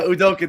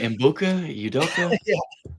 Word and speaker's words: Udoka: Yeah, I like I want you to pronounce his name because I always it up. Yeah, Udoka. Thank you, Udoka. There you go. I'm still saying that wrong. I'm like Udokulka.